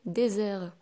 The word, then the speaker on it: désert: Par exemple, on a dessert et désert. Donc عندنا le double S la première, la deuxième عندنا S. Bien sûr, S entre deux voyelles, ça se prononce Z. Donc on va dire désert.